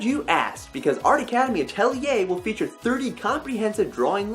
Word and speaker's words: Atelier: call it that is officially called Art Academy atellier and yes that is how you pronounce it I looked it up but what